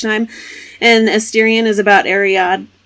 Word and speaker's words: Ariadne: And Asterion is about Ariadne. How do you say it? Ariadne, and she's a badass assassin.